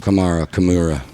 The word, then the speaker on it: Kamara: name who camra stop it threw me off Kamara CA saquan Barkley number three Bree Hall number